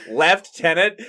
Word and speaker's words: lieutenant: I'm like, okay, then where's the F in lieutenant? Oh. Okay, like, left-tenant?